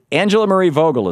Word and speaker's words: Angela Marie Vogel: Well, Angela Marie Vogel is on the line.